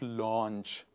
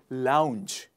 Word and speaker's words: lounge: up your nerves etc it is not launch no matter how many times you see the word it the the the reflexes natural reaction is people call it launch not launch lounge one more time lounge the next one is